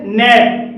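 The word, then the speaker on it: gnat: कुछ और शब्द जैसे नेट नेट में भी जी के बाद एन है और यहां पर भी जी साइलेंट है साइन साइन में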